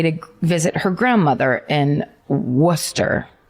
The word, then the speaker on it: Worcester: She disappeared in November of 1973 um on her way to visit her grandmother in Worcester. If it's if it's the Boston pronounced worster.